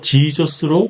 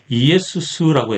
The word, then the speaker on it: Jesus: 그래서 라틴어 성경에서는 예수님의 이름을 JESUS로 쓰지만 발음은 이에수스였습니다. 영어 성경에는 예수님의 이름을 라틴어와 똑같이 JESUS로 기록하면서 지저스로 발음하였습니다. 그래서 히브리어 아람어로는 예슈아라고 하는 원래 예수의 이름이 그리고는 이에수스라고 했고 라틴어는 JESUS 쓰지만 이에수스라고 읽었습니다.